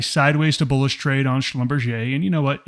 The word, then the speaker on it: Schlumberger: Schlumberger and Schlumberger and I said that incorrectly Schlumberger that is how you say Schlumberger at Maverick we don't